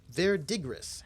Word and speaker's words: verdigris: Verdigris. How is that word pronounced?